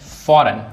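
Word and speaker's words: foreign: फॉरेन फॉरेन में जी silent है।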